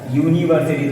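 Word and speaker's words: university: हो जाएगा, क्योंकि तुमको यूनिवर्सिटी ऐसा नहीं ऐसा प्रोनाउंस होता है यूनिवर्सिटी, तो वाई तो कॉन्सोनेंट हो गया, तो चाहे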